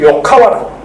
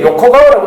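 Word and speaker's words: 横川: 그 다음에 저 서탑에서 저 안에 가면 이 요카와라고. 저는 옛날에 이게 요코가와라고 읽었는데 요코가와가 요카와라. 요카와.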